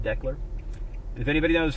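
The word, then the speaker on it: Decherd: VH is built in declar Tennessee I believe it's pronounced declar if anybody knows how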